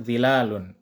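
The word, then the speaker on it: ظلال: penulisannya dan juga zilalunnya juga zilalun terlihatnya tetapi tetap dibacanya panjang zilalun kemudian ada penandaganda yaitu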